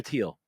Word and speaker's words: Thiel: Zuckerberg or or musk or okay so Peter teal um and it's pronounced like Tel even though it's spelled t